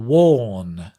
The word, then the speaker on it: worn: shooting war I wore and the past participle worn which is the same or but with a nut worn worn with a strange